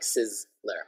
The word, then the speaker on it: Sizzler: So this one, a little bit like a softer Z, it's not like a Z, but actually like Sizzler, Sizzler.